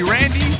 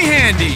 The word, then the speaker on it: Randy: In America, they call me Randy, but in Brazil, they call me Handy. Because they can't pronounce the R.